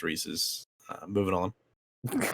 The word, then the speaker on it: Reese's: It is pronounced Reese's. The candy is pronounced Reese's.